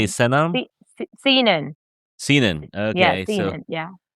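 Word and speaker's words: Senon: Sinan.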